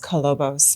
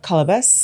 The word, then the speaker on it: Kolobos: refus to call itus actually pronounced cobos but the filmmakers call it cabus cabus and so does every character in the film so kabus we finished